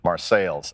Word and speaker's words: Marseilles: My mom comes from a small coal mining town in central Illinois called Marseilles, Illinois. It's spelled like Marseille, France, but it's in central Illinois, so it's pronounced Marseilles.